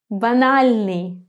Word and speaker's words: банальный: Банальный. Remember that the letter A in Russian is always pronounced as in the word up in English. So it's never a.